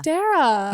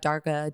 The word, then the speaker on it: Darragh: It's Darragh. Like, I dare ya. Darragh. Yeah, a lot of people say Darragh, Darga, Darg.